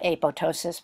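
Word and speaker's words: apoptosis: one is April ptosis you don't pronounce the second P and the other term is necrosis so let's do a PO ptosis because you're going to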